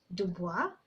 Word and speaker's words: Dubois: so the boys is actually a French word that is meant to be pronounced as Dubois but Kenyans with the